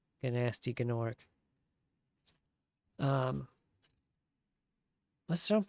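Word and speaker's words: Gnasty Gnorc: and an orc and when you do that then you have to pronounce the G. Gnasty Gorc.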